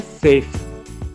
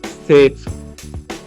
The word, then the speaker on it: chef: इस शब्द का प्रोनाउंसिएशन होता है सेफ। सेफ।